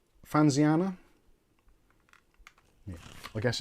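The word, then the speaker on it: Fanxiang: I still can't work out how to pronounce this because I know in Chinese generally the X is pronounced as S. So it's Fanxiana.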